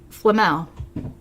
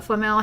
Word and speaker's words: Flamel: that's cool for one Nicholas Flamel I think that's how you say it flammal Flamel in Harry